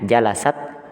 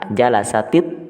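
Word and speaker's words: جلست: kemasukan alif lam maka kita tidak kemudian membacanya jalasat ATB atau tidak tetapi kita kemudian menyebutnya dengan mengucapkan kasrah di huruf tnya di huruf ta jalasati thibatu jalasati thibat begitu cara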